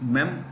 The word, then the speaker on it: memoir: a see Memoirs are a collection of memories memir m e m the spelling is m e m o i r memir but when you read the I mean pronounce when you read the word it's mear war is like w a r War so